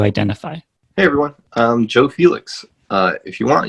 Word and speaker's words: Felix: Hey everyone, I'm Joe Felix. If you want, you can pronounce it with a more Spanish accent and say Joe Felix.